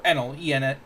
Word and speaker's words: Eneru: The One Piece fun fact of the day: across the various translations, Eneru's name is spelled or slash pronounced well Eneru as in Eneru, or Enel Enel.